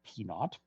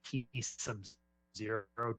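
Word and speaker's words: P₀: Most often we pronounce this as P naught. I pronounce it P sub 0 just so that way it's very clear that we're talking about a subscript.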